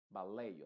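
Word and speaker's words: ballet: más importante acá es que la et en estas palabras que son de que vienen del francés se están pronunciando con la letra original a que sería e baley o sea Olvídate en estas palabras exclusivamente eh olvídate de la et y ponle una a b buffet chalet proch y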